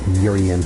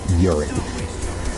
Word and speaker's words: Urian: And for Eric, it's pronounced Urian, not urine.